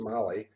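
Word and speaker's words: Mahle: his family which was m-a-h-l-e that's pronounced mali m-a-h-l-e that family uh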